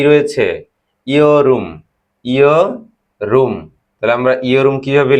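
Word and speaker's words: 여름: ইয়রুম। ইয়রুম। ইয়রুম অর্থ হলো কি হলো? কোরিয়ান উচ্চারণ হচ্ছে ইয়রুম।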